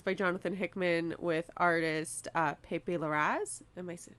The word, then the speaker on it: Pepe Larraz: And this is by Jonathan Hickman with artist Pepe Larraz. Am I pronouncing that right? Yeah, Pepe Larraz, Okay.